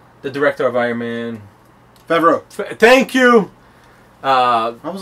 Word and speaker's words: Favreau: Next one, listen, I'm gonna mispronounce his last name because I always do, but John Favre. The director of Iron Man. Favreau.